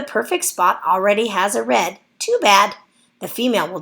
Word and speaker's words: redd: The female salmon digs the nest, called a redd, notice it's spelled R-E-D-D, by swishing her tail and flapping it up and down to loosen gravel in the stream or river.